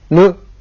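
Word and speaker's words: む: This is pronounced as mu.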